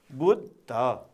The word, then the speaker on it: बुद्ध: त्यस्तै गरी अब यो बुद्ध, यो पनि बुध द होइन, बुध ध। यी उच्चारण चाहिँ यसरी गर्नुपर्ने हुन्छ, बु आदि द अनि ध चाहिँ पुरा हो, बुद्ध यसरी उच्चारण गर्नुपर्ने हुन्छ।